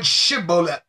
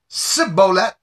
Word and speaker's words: Shibboleth: then they would say pronounce or sing in the word Shibboleth and if you pronounce it fine okay you can pass but if you blew it and said Cibola you were done for now this is not